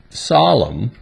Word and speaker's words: solemn: N is a silent letter when it comes after the letter M, as in these examples. Autumn, column, solemn, and hymn.